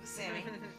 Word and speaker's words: Buscemi: His correct pronunciation is Steve Buscemi.